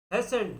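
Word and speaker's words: hasten: तो ये उसके बाद है हेसेंट, इसमें टी साइलेंट।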